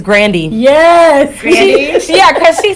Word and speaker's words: Grande: saying her name wrong you know who else's name we say wrong ariana grande it's not grande it's granny yes yeah cause she